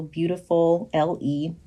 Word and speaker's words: Beautifulle: find me at Beautifulle, which is the word beautiful and then an extra L and E. So beautiful, L-E. Beautifulle is how you pronounce it.